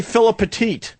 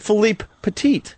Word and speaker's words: Philippe Petit: Most people say Philip Petit, so I purposely was trying to say his name right. So I said Philippe Petit.